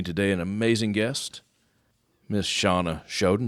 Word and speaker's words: Shana Shoden: an amazing guest Miss Shawna shoden did I say it right that time you got it right Shawna it is Shawna how are you I'm